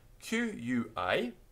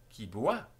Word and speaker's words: qui boit: Q-U-I-B-O-I-T question mark. Qui boit?